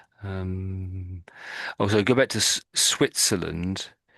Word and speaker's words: Switzerland: Um, Also, go back to Switzerland. I think it's the T and the Z sound here is a bit tricky for you. So Mhm. Switz, Sweet, Switzer, sweet, Switz, Switzer, sweet pizza. Swi Switzerland.